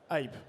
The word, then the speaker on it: Hyppe: On prononce bien Hype, on prononce Hype, on prononce comment? Hype.